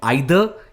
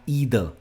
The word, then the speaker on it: either: आप कोई pronunciation use कर सकते हो, मैं जनरली ईदर कहता हूं, I generally use this, so आइदर या ईदर।